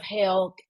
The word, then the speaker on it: hell: Gates of hell. I have the worst um, accent sometimes and I say that word as though it's spelled h a i l, but it is h e l l.